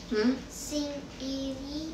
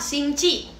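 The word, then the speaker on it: 星期: Sing iri. Salah, singci. Singci. Q itu bacanya ci, singci i.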